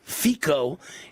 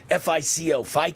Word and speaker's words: Fico: Slovakia's anti-globalist Prime Minister Robert Fico, I assume it's pronounced F-I-C-O, Fico, has announced a temporary